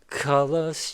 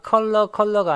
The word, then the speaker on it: color: Colors changing hue. 자, 다시 한번요. 컬러가 아니고 color요.